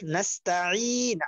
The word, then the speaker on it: نستعين: ইয়াটা টান দেওয়া হয়নি আর নাস্তাঈন আইনটা চাপ দিয়ে বলতে হবে নাস্তাঈন আইনটা চাপ দেওয়া হয়নি আর কি আলহামদুলিল্লাহ আইন